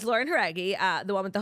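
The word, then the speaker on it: Jauregui: Fifth Harmony singer Lauren Dreggy. Okay. Your inability to say her name. You said it yesterday, too. I think it's trying different things. It's Lauren Heraggi.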